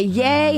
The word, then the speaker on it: Ye: cut ties with Kanye how do you say it it's easy so it's ye they call him yeah though they don't call him yeah okay yay has reportedly cut ties with Kanye yeah I